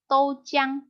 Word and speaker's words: 豆浆: Nah, kalau susunya susu kedelai itu bacanya doujiang.